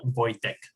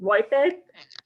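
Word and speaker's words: Wojtek: is easy then because yesterday i was listening to different pronunciation of your name and okay somebody was saying why somebody was saying wipe it yeah yeah correct his voice like usually english speakers go for because of the j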